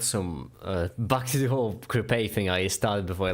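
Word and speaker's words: crêpe: It's pronounced crap. No, you gotta pronounce the A a bit more. Crepe. Yeah, I like me some good crabs. Like grape, but with a K sound in the front.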